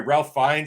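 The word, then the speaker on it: Ralph Fiennes: Ralph uh uh sorry Ralph finds I believe is the way it's pronounced again I'm probably terrible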